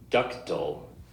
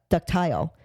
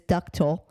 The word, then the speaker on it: ductile: ductal ductal ductal ductal it's spelled d c t i l e when I first seen it I was I was pronouncing it duct ductile um only because of the way you know it's spelled but it is ductal it is Latin it's